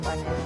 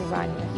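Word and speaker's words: Ibáñez: It's not Ibanez, it's Ibanez. You mean the Bambi whose body was found in Natasha Kutsenko's weekend house with huge Well, not a round hat.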